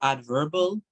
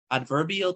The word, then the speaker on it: adverbial: to be looking at adverbal adverbial Clauses that's how we pronounce them adverbial clauses and maybe next last